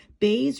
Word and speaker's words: Beys: Baze Rock Shop is spelled B E Y S.